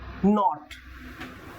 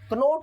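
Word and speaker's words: knot: नॉट, अब ये के साइलेंट नॉट बोला जाए, कनॉट नहीं बोलेंगे।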